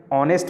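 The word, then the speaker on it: honest: अब यहाँ पे ऑनेस्ट में एच है, लेकिन इसका प्रोनाउंसिएशन कैसा हो रहा है, उसका प्रोनाउंसिएट हो रहा है अ।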